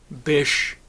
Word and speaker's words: Bish: Bish. Rhymes with fish.